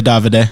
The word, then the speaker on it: Davide: know that so first off how do you pronounce it pizza davide or pizza pizzeria davide davide yep okay there you go see i